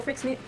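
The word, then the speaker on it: Freixenet: She's a winemaker for Frixnit. Yep, that's how you say it.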